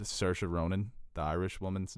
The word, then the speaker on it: Saoirse: People freaked out on me because I mispronounced Saoirse Ronan, the Irish woman's name. Look how that name is spelled and see if you can pronounce it. Saoirse. Yeah, it's like sorry, I love the scene